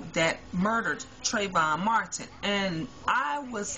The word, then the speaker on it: Trayvon: going on with um trayvon martin i am so sorry um to the family and the friends um you guys that i've been getting his name wrong i've been calling him treyvion but i love the